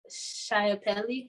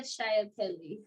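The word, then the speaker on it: Schiaparelli: pronounce it wrong, but it's like Elsa Chiappelli. Like it's pronounced Italian, so you gotta like roll the L's and all of that. But Elsa Chiappelli, something along those lines.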